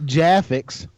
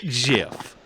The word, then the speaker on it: GIF: If it's graphic, starts with a graph. So, GIF. GIF. J ready. It's not Jaffix. It's GIF. It's pronounced GIF.